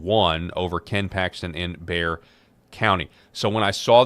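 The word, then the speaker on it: Bexar: That's pronounced it's Bayer in Texas, not Beexar.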